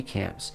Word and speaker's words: CANMP: grew uh what we call Camp CMP the the N is silent as we sat there the